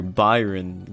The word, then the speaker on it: Byron: is the still type gym leader Byron get it because it rhymes with iron gamefreak I'm going to